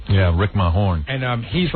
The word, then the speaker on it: Mahorn: Rick Mahorn, but it's spelled weird, like it's Majerne. Yeah, Rick Mahorn.